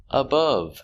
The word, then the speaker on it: above: another example above below above making this short sound uhuh above example there are